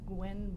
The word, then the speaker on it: Gwenn: It's Gwenn, which is a little Spelled like it sounds.